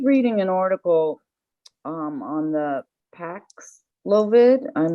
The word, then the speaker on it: Paxlovid: I just was reading an article on the Paxlovid. I'm not sure if I'm pronouncing it correctly. Paxlovid, yes.